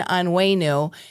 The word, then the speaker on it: Onwenu: Senate District 1, Justin Anu. And I wanted to make sure I pronounced his name right because it spelled O N Wu. And he said, just remember on the way with new leadership, clever.